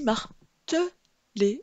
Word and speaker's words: marteler: J'ai bien dit marteler. Le E se prononce E, ce qui m'indique qu'il n'est suivi que d'un seul L et non de deux.